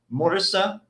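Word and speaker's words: Murcia: I'm going to say this the proper way, Murisa, but it's spelled Murica.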